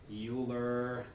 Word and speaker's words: Euler: all right with the euler lagrange equation done i need to deal with